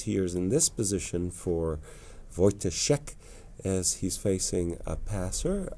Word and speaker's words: Wojtaszek: Wojtaszek. Ivan Saric, who Yeah. we just mentioned, of course. It looks, I still some dangers here in this position for Wojtaszek as he's facing a passer.